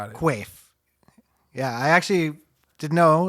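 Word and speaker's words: Quaife: And pronounced Qua. Okay, got it. Qua.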